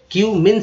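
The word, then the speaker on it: cumin: जीरा, क्यूमिन, क्यूमिन seed, अब देखिए यू का उच्चारण यहाँ पर ई यू के रूप में किया गया है, ठीक है, तो सी में लग गया यू, तो क्यू, क्यूमिन सीड।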